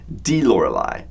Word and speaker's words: Die Lorelei: on several occasions, I immediately recognized the proper pronunciation of that song is actually "Die Lorelei" which stands for "the Lorelei" which, the Lorelei